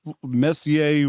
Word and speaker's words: Messier: what the heck is Messier? What are we talking about? For hockey fans, it's like Mark Messier, that's the way it's spelled.